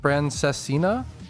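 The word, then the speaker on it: Francesinha: Francesina?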